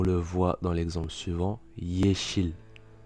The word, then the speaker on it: yeşil: français mais une consonne, ressemble au Y anglais, c'est-à-dire qu'il se prononce y, comme dans yes. Et bien là ça va être la même chose. On le voit dans l'exemple suivant, yeşil, yeşil, vert.